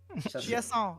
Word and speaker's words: Chiasson: Chiasson, almost.